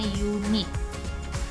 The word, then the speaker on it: unit: Kemudian unit juga cara bacanya ditambah y di depan, jadinya unit.